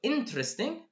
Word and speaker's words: interesting: So 4 syllables to 3 syllables.